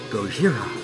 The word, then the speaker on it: Gojira: that's probably about Godzilla Japanese pronounce it Gojira Slipknot well heard